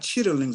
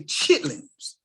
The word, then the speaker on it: chitterlings: They're not chitterlings. I know you're using all the pronunciation, but you got to say chitlins and cut them other letters out of there.